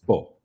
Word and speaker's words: fou: Or it's pronounced faux. So FOU, faux is crazy in French.